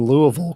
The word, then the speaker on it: Louisville: you two said in Louisville correctly what did I say Louisville Louisville that's because though Louisville Louisville Louisville there you go Louisville Kentucky Louisville it's like that three syllables Louisville Louisville no just Louisville Louisville